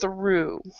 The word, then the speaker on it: through: caught and and cough the first three the GH you do not pronounce at all so when you have the word this word through U through the country for about 400 kilometers you do not have to pronounce the GH so it's just through okay through though and then